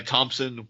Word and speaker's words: Thompson: Okay, try Thompson without P. Remember to pronounce the P mentally so she knows the difference.